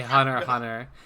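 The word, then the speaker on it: Hunter × Hunter: Someone David from Shouldn't Flop earlier called me out for pronouncing the X. You're supposed to Yeah, just say Hunter Hunter.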